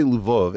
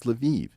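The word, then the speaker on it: Lviv: way if I say luvov everyone's gonna correct me and say no no Eric it's leviv it's like no these spit these cities all have multiple pronunciations I I always thought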